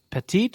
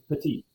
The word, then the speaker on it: petite: franc and 5% malbeck when have you ever seen the word petite pronounced patit uh well it doesn't have an e on it e t i trench so um first